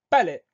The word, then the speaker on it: palais: Palais, ça va s'écrire la première syllabe tout simplement P-A, pas, et la deuxième syllabe, les. Dans cette syllabe, on entend le son E qui va s'écrire avec un A et avec un I. Et on a une lettre finale muette, c'est un S qu'on n'entend pas.